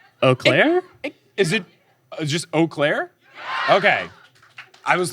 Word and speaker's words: Eau Claire: It is spelled EAU space CLAIRE. Eau Claire? Is it just Eau Claire?